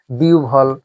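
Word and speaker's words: বিহ্বল: এখন হ যোগ ব আছে কিন্তু হ ব কিন্তু উচ্চারণ হয় না। উচ্চারণ হয় অন্য কিছু।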